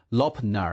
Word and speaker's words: Lop Nur: 罗布泊在维吾尔语中念作 Lopnar，意思是多水的湖。